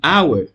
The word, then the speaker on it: hour: voyons quelques exceptions en hour en hour en hour donc là déjà on remarque l'absence du son ha bien le mot commence